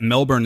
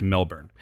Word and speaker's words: Melbourne: point was is that he said that Melbourne is the actual pronunciation we arrived we were going back and forth between Melbourne or I was I should say Melbourne Melbourne it is in fact Melbourne and he also told